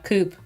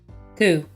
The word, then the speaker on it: coup: a South Korean uh Coupe coup not coupe the PE is silent coup that happened I think